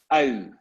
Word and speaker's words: ui: When you want to pronounce the ui, it's like you make a trumpet from your lips. So it's like ui, ui.